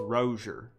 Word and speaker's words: Rozier: is starting let me we've all been saying it wrong the announcers called him rosier now on it's rosier they've been tricked brochure